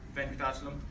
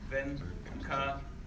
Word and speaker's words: Venkatachalam: It's 5 syllables. Venkatachalam. Venkatachalam.